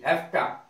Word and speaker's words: hafta: अब है हैफ्टा, हैफ्टा have to की शॉर्ट फॉर्म है, शॉर्ट में बोलते हैं हैफ्टा, HAFTA, हैफ्टा, हैव टू की शॉर्ट फॉर्म।